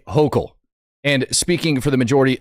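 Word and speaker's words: Hochul: Matt, her name is pronounced Kathy Hokll.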